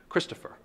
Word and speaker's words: Christopher: Christopher. That's a dactyl. Three syllables, the first syllable is emphasized, followed by two unstressed syllables.